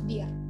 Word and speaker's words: Bier: Lanjut ada huruf IE. Terus dibacanya jadi I. Contohnya Das Bier.